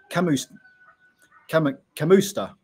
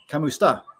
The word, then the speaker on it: kamusta: you can say uh if I'm English I'd probably say C Kam custa but it's not it's kamusta you you You' got